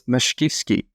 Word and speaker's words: Mashkivskyy: It's Mashkivskyy.